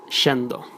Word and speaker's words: yendo: you can find that letters Y and double L are pronounced like sh, sh, like instead of llegar, llegar, instead of lluvia, lluvia, instead of yendo, yendo, and so on.